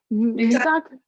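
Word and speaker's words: Middag: Is it Hadag? You pronounce it, or Madag? Medag.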